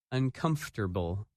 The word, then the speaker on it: uncomfortable: Learners that word is uncomfortable and its opposite comfortable when you say this word you do not pronounce some of the letters that you see in the written word in this lesson you